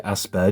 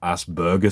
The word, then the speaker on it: Asperger: I've always known it to be asper syndrome, not asberger syndrome.